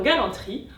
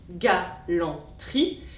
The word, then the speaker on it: galanterie: Et dans galanterie, on a 3 syllabes phonétiques, galanterie, mais on a 4 syllabes graphiques, galanterie.